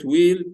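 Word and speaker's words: wheel: وهلا لو بصينا كلمة ويل تشير، ويل تشير. ويل تشير. طب مين واد شاطر أو بنت شاطرة يقول لي إيه الحرف اللي متنطقش في كلمة ويل؟ ثانك يو، برافو عليك، حرف الاتش.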